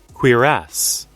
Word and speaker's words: cuirass: So we can do the guards, the cuirass, cuirass? How do you pronounce that word? Cuirass.